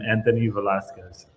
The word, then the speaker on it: Anthony Velasquez: am diego salterini and you are i am anthony velasquez all right very good tell us tell us